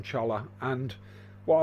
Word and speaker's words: cholla: I think they're pronounced cholla, but we always call them cholla.